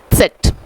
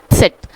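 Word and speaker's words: Zett: सेट आधा हमें starting में लेना है, उसके बाद में सेट। सेट। जिस तरह हिंदी में उत्सव होता है, देखा होगा आपने, उत्सव, तो उसी तरह से हम इसको प्रोनाउंस करेंगे सेट।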